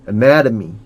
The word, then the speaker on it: anatomy: Human anatomy and physiology. Human anatomy. 애 발음할 때 입 크게 벌리라고. 입을 크게. 턱을 밑으로. Anatomy. 오케이.